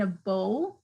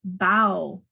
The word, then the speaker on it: bow: right in this case it's spelled the same way but it has more than one pronunciation and different meanings so here i've got b-o-w and this could mean a bow like a bow and